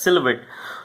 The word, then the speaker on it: silhouette: So this particular word is French word, and the pronunciation of this particular word is as silhouette.